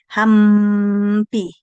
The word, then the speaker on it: hampi: Y cuando tenemos n se pronuncia hangpi, o sea, es así, hi. Y no se no se choca tu lengua, tu tu boca. Bueno, no hay bilabiado, mejor dicho, los dos labios no se chocan. Mire, pronuncia ahí usted hampi.